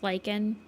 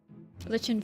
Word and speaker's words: lichen: I think you're supposed to pronounce it as Lyken, but I switched between Lyken and Lynch. I think it's a tomato tomato thing. Lichin fur. Lichin fur sounds better on my tongue, but lychen is how it's supposed to be pronounced. But I feel it easier to say lichen for like I don't know the hard K is hard to say in the middle of